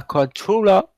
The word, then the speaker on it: Cartuja: On va à Séville, en Espagne, avec l'Estadio La Cartuja. Cartuja. Cartoura, C'est comme ouais.